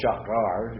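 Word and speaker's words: שער: Well, actually, I'm doing it wrong because the accent's on the first syllable.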